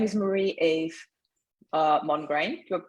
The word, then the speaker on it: Marie-Ève: My name is Marie-Ève, and if you want to pronounce it in French, it's Marie-Ève.